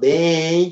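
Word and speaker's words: beny: Moun ki apprend ben soleil. Listen to the pronunciation. B-E-N-Y. Ben. Moun ki apprend ben soleil.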